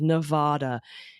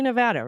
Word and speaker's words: Nevada: friend yes it's true that Reno 911 says Nevada but this is your friendly reminder that although